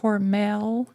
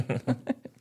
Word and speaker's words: Hormel: Which we always used to pronounce it Hormel. But after we got up to Minnesota, they all pronounced it Hormel. It's Hormel.